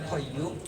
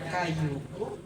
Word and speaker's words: Qayyum: Yang diaos yang dibaca oleh Sunan Geseng yang seharusnya ya Hayyu ya Qayyum. Tapi Sunan Geseng bacanya ya Kayu, ya kayu.